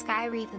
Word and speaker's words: Sky Reaper: Skypa says, It's pronounced Sky Reaper, but you can call me Sky, haha.